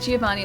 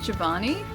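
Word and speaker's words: Giovanni: Wait, how do you Okay, so um, you say it Giovani, it's pronounced Javanni. It's pronounced Javanni, not Giovani.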